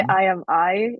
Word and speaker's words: I Am AI: you say the name I say I am I and it's like meant to trick people into thinking which one it is okay that was that was my original that I am I um you wrote you